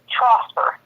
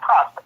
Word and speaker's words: Trosper: The last name is Trosper. Trosper. Trosper. Okay. Trosper with a T at the beginning, not Prosper. Trosper. Many people get Prosper.